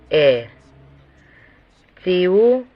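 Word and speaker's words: את: Aleph es una consonante, pero es una sílaba silenciosa y no se pronuncia. En su lugar hay tzere, debido a que existe el Aleph, y tau produce un sonido t y se traduce como et. Esta es la posposición objetiva en hebreo.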